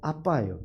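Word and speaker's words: אבא: 뜻이 뭐냐 번역하면 우리말로 아빠예요 또 너무 공교롭게 예 아람의 아빠가 우리 말의 아빠와 똑같아요 발음도 똑같고 뜻도 똑같아요 하나님 예수님이 아버지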